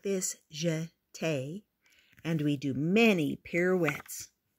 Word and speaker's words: jeté: We jeté, you say it like this, jeté.